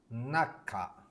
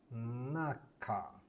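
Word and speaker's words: 中: Naka. Naka. So it's na, ka.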